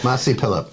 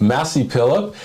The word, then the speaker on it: Mazi Pilip: I always mispronounce her name. Massey Phillip. Massey Phillip, and she got trounced.